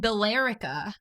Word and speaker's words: Billerica: It's spelled Billerica, Oh. but we call it Billerica.